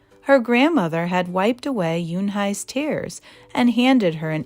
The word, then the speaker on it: Unhei: Une, some kids chanted. No, Yoonhai corrected. It's spelled Unhei. It's pronounced Yoonhai.